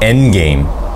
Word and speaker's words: endgame: 엔게임. 엔게임. 이게 D가 잘 발음이 안 되죠?